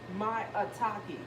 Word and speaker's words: maitake: Maitake.